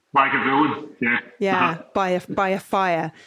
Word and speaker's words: Lagavulin: So there's 10 hours of Ron Swanson drinking, how do I pronounce it? Lagavulin? Lagavulin, yeah.